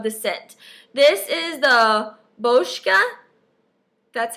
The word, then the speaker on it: Boscia: only because of the scent this is the boshka that's how you say it makeup breakup cool